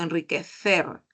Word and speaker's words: enriquecer: fonema consonántico luego miren enriquecer es con c es una interdental y suena así no enriquecer enriquecer utilizo este internent